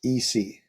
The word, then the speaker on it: ICI: ICI pronounced EC. Oh, sorry, yes, because, well, Oh, okay, I got you. we All right, decided, thank you. the Canadians decided it would have to be pronounced EC, yeah.